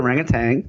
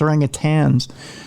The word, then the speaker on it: orangutans: of hand no it's orangutans uh like did an orangutan just stand up and go uh i'm sorry mr human they're pronouncing our name wrong there's no tang in orangutan excuse me it was